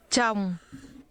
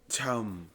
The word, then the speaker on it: chồng: Chồng, Chồng, chồng, chồng, chồng, chồng. This is pronounced with a falling tone.